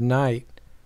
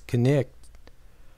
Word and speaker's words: knight: For example, my friend Hester Amstel explains that the one-syllable word knight was pronounced in Old English with two syllables as knicht, which explains something about why it is spelled in a funny way.